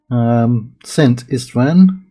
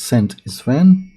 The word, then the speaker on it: Szent István: Now the year is 1072, and it is 71 years since Szent István. I think the Z is silent for English speakers, so I'm going to say it's Szent István.